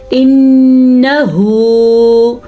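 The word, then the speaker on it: إنه: باریک پڑھی جائے گی۔ انہو، نون کے اوپر شد کی وجہ سے غنہ ہوگا اور ہا کے تلفظ کا آپ نے خاص خیال رکھنا ہے۔ इन्नहु, ठीक है।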